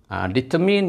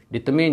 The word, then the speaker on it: determine: Betul lah, MINE is mine, tapi bila DETERMINE is pronounced as determine, bukan determine.